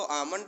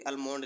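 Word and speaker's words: Almond: है हमारे महोदय अलमोंक इनको आमंड और पावेल लिखा रहता है कभी-कभी अमंड लिखा रहता है क्योंकि ल कहीं कहीं साइलेंट कर दिया जाता है तुलनात्मक राजनीत विभिन्न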